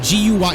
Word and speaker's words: Guy: Guy, G-U-Y. It's spelled like guy, but in French, it's Guy. So if you see, like, Jean Guy, it's actually pronounced Jean-Guy. And it was like, the fries were crispy, but not overdone.